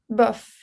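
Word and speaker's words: bof: it's pronounced? Buff? Buff.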